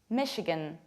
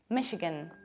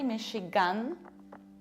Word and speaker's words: Michigan: Our next state is this one, Michigan, Michigan. What happens here? Look, I don't say Michigan, I reduce it. So as a result, I say Michigan, Michigan.